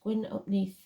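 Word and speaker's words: Gwyn ap Nudd: hunt uh and even GW UPN pronounced gwin upne King of the fairies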